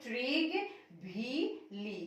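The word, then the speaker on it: Trygve Lie: Again you will write Trig V. Lee. কি লিখিবা? Trig V. Lee. Trig V. Lee. To uচ্চাৰণ pronounce কৰিবলৈ থোৰা অলপ difficult হ'ব পাৰে. So Trig plus V plus Lee এনেকে কৰি তোমালোকে উচ্চাৰণটো কৰিবা.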